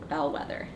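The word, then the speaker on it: Balquhidder: called the braze of bell weather bell weather is spelled b-a-l-q-u-i-d-d-e-r bell weather yeah i tried writing that one down we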